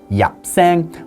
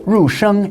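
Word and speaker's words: 入聲: But actually in Cantonese, there are 3 more tones called entering tones, or yapsang, or rusheng if you pronounce it in Mandarin, that don't exist anymore in modern Mandarin Chinese.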